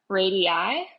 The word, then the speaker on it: radii: has a few different radii radii eyes like the plural kind of like cactus thing cacti so that word is